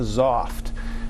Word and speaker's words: Xoft: a new machine that's called the zoft now zoft is spelled xoft so if you're Googling